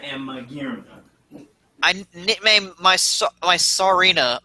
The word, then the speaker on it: Serena: I nicknamed my Sarina. Is that how you say it? Yeah, Serena.